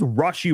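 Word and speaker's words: Rashee: and by the way I've been saying his name incorrectly and I think Sam McDow of the Kan City Star has been the only one to actually say it correctly so it is Rashi rice uh I might say Rashi again so if I do I apologize but I'll try to catch myself and uh and correct that but it is Rashi rice that is how you say it like R aw rashy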